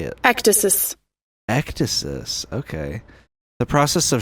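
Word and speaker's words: ecdysis: Ectasis.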